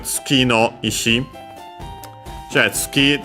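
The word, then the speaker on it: 月: So yeah, Tsuki, the one already mentioned for moon. Accent on the last mora.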